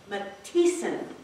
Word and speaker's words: Matheson: I always pronounce it Matheson. He would correct, we had an old gentleman that was a member of the club back when he was in the club. He would correct anyone if they pronounced her name wrong. He would say, Matheson. That's right. He's Matheson.